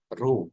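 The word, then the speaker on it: ρ: Ini bacanya RO ya.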